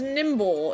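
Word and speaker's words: Nymble: This is Nimble. It's a cricket. How do you spell it?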